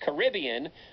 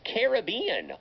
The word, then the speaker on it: Caribbean: question for you because i've heard this word pronounced two ways i've heard it pronounced caribbean i've also heard it pronounced caribbean are they both correct or is caribbean correct do you know um they're both correct okay great excellent this